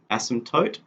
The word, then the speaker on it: asymptote: a special word called asymptotes it's got a silent p asymptote so this is at